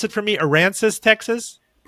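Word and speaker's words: Aransas: You are known and pronounce it for me. Aransis, Texas. Port Aranis.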